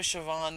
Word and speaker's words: Siobhan: is right on that I know show Vaughn is is the way to pronounce my character's name correctly and I think it's